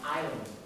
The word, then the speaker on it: island: Island. Like the word island. Can you spell that?